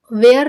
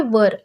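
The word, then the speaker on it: were: यहाँ पर इसे हम वेयर नहीं कहेंगे, इसका प्रोनाउंसिएशन वेयर नहीं होगा, इसे हम बोलेंगे वर। ये इसका करेक्ट प्रोनाउंसिएशन है।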